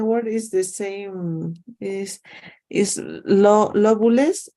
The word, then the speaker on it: lobules: Is lobulus? How do you pronounce that? Is lobulus? Lobulis? Lobules.